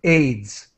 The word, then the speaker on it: AIDS: in English we say AIDS we pronounce this as a word AIDS and Gamers who are